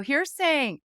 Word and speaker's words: Heersink: Podcast Network host, Heersink. He hails actually... Hi, Katie. Did I pronounce Heersink correctly? As always, yes. Okay. I taught you well.